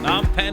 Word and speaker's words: Phnom Penh: Non pen food tours. This non pen. The p is silent.